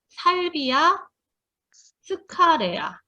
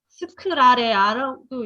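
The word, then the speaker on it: Salvia sclarea: 클라리세이지는 살비아 스카레아. 이거는 레아라고 읽어요. 스카레아. 스크라레아라고 읽기도 해요.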